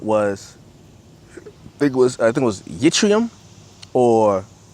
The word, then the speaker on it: yttrium: That's actually how you say it, yttrium or ytterbium.